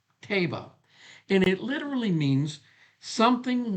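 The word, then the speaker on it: תבה: The word ark in the Hebrew is the word Tevah. Looks like Teva, but it's pronounced Teba. Teba.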